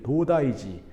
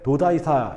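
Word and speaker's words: 東大寺: 그 중에 가장 대표적인 절이 이제 도다이지, 지라고 하는 게 우리나라 절사자를 일본식으로 발음한 거예요. 교과서는 그래서 도다이사 이렇게 나옵니다. 근데 이제 실제로 일본 사람한테 도다이사 이렇게 물어보면 못 알아들어요. 도다이지.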